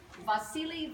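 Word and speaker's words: Wassily: silly in sorry but it's pronounced with a V even though it's W because he was Russian born in Moscow wealthy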